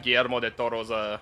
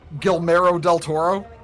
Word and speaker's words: Guillermo del Toro: I'm still crashing out over y'all mispronouncing Guillermo del Toro's name. You mean Guillermo del Toro? Guillermo del Toro?